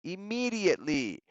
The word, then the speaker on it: immediately: And obviamente los nativos van a hacer van a pronunciar di. Chicos, si pueden, no sé si la palabra es tararear. Si practican eso, de ahí suena el sonido de la T y la D en el inglés americano, right?